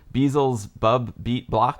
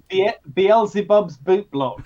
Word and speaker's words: Beelzebub's Boot Block: And I don't even know how to pronounce this. Is it Beelzebub's Bub Beat Block? It's Beelzebub's boot block.